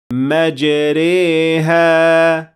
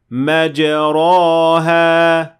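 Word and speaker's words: مَجْرٰىهَا: بِسْمِ اللَّهِ مَجْرَاهَا وَمُرْسَاهَا۔ غور کریں کہ ہم نے کہا مَجْرَاهَا نہ کہ مَجْرَاهَا، کیونکہ وہ الف بن جائے گا، لہذا وہ درست نہیں ہے، اور ہم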